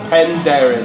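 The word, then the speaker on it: Penderyn: How do I pronounce it? Pendrin. Oh, Pendrin, that's an easy one.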